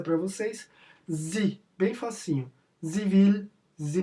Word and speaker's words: sie: Entre aspas aí, a pronúncia para vocês, sie, bem facinho.